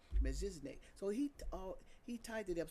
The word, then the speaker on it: Melchizedek: Melchizedek. No, I always say his name wrong. Melchizedek.